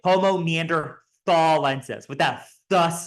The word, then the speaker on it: Homo neanderthalensis: pronounce the species name homon Neanderthal lenses like that um and this is because the old German word for Valley was Thal so neander Valley was